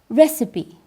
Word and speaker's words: recipe: You've just heard a word that is easy to write, but it has a very special pronunciation. Recipe.